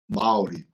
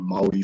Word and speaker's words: Māori: Am I rolling the R? Am I doing that? Yes, we do the exact same thing, the same pronunciation, the same as Japanese as well. The vowels a, e, I, o, u, and the rolled r.